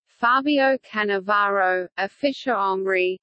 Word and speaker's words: Fabio Cannavaro: Fabio Cannavaro a fish Omri Italian pronunciation FA bjo can a VA robe on the 13th of